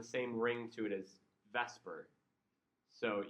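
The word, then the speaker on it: VSEPR: The separate, which doesn't have the same ring to it as vesper. So you'll often hear this referred to as vesper theory.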